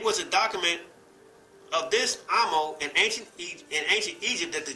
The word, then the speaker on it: Amos: From English phonology, this name is pronounced with a long A or A. However, I have heard and noticed that some Jewish people and even biblical scholars pronounce this name with a short A, just as pronounced in Akan. In their pronunciation, therefore, Amos is pronounced Amos, or Amo.